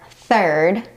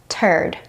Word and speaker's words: third: So, a non-native English speaker might try to say the word third and end up saying turd.